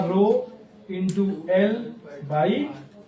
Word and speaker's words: rho: ये जो हमारा ये जो सिंबल है, इसे हम प्रोनाउंस करते हैं रो से, RHO रो, और इसका नाम है, हम पूरा नहीं लिखेंगे, स्पेसिफिक रेजिस्टेंस, या फिर हम लोग इसको बुलाते हैं रेजिस्टिविटी।